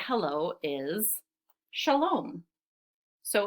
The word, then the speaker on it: shalom: So one of the ways they say hello is shalom. So in the word shalom, shalom, I hear two syllables.